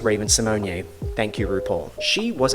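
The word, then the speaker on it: Raven-Symoné: I'm talking about hi I'm Reese properly pronounced Raven Symone thank you RuPaul she was a character in Xenon back in 1999.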